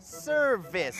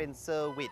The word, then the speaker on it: surface: ว่า Surface นะ ครับ แต่ เขา ออก เสียง เป็น ว แหวน เป็น เซอร์วิส นะ ครับ เซอร์วิส ที่ สำคัญ ครับ ตัว v นะ ครับ ก็ อยู่ ใน หมวด หมู่ เดียว กัน กับ ฟ ฟัน และ ฟ ฝา นะ ครับ